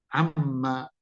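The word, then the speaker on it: عَمَّ: ammaatasalun Ya Amma Amma ingat ini bacanya pendek loh ya ya Ini bacanya pendek anda jangan baca begini kejebak dengan apa namanya mimnya tasdid seingga banyak orang bacanya begini Ma maanya kepanjangan salah maanya ini pendek tapi dia bertasdid tasdid itu berhenti pada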